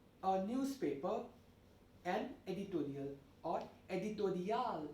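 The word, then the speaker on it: éditorial: newspaper an editorial or editorial if we pronounce it in the french manner spelling is same it's just that the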